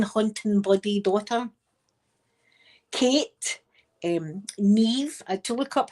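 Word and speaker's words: Niamh: Um, Neve, I had to look up how to pronounce that name. Ne. It's spelled N I A M H, but I looked up and you pronounce it ne.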